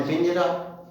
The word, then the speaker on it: page: केज, CAGE केज, केज माने पिंजरा। ऐसे ही पेज, PAGE पेज, पेज माने पृष्ठ। स्टेज माने स्टेज। इन सब में जी आया तो उच्चारण ज हो।